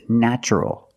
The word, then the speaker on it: natural: a vowel an a also in this pattern the t is pronounced with the CH sound so the word is natural but first let's focus